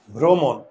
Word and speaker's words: ভ্রমণ: আর এটার উচ্চারণটা কি হবে? ভ্র, মন, মন না মন, মন। এই যে, আর উচ্চারণ লেখার সময় মূর্ধন্য কি হবে? দন্তন্য। ভ্রমণ।